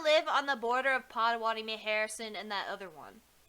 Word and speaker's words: Pottawatomie: Pottawatomie.